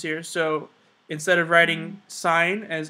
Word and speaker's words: sine: i n e and it's pronounced not sin okay it's not sin it's sign um so again we